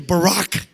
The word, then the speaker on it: Barack: Not because he's black, because his first name is Barack. It rhymes with Iraq.